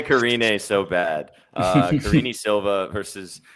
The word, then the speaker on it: Karine: You even told me how to pronounce her name before we started. Karina. Karina. Karini. Oh, Karini. Close enough. I want to say Karine so bad.